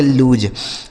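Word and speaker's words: loose: इसे पढ़ेंगे लूज। अब इसको भी हम लूज ही पढ़ेंगे। ठीक है? L double O एस ई लूज़।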